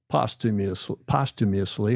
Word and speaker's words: posthumously: So that was the story of Susan Henn and the reasoning behind her induction posthumously, how do you say that?